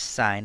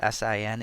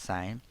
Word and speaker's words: sine: s i n and make sure you don't say sin we pronounce it s even though we've written it as in so that's sign and the ratio of